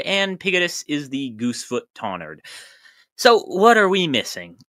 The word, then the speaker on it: Tonnerd: Influence from towards or forward could yield something like tonward, but I think the most likely is a silent W and short vowel, yielding tonard, similar to Greenwich or Southwark, but spelled accordingly.